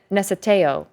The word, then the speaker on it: necesejo: Necesejo. Is that what it was? So, the C is pronounced like a TS sound.